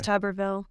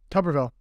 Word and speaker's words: Tuberville: it tolerable I never say it right it's tuberville tuberville yeah I just turned it today I'm in